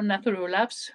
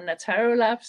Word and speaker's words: Nattaro Labs: In my talk, I will focus on how Nattaro Labs, or Nattaro Labs, depending on if you pronounce it in Swedish or in English, have combined research with